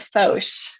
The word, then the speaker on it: Focht: is watched yeah you pronounce it fosh yeah that spelling doesn't help anyone out no it doesn't turn